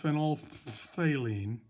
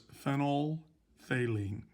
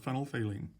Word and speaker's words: phenolphthalein: And it's not pronounced phenolphthalein. That pH in the middle is silent. So it's phenolphthalein. All one word, phenolphthalein.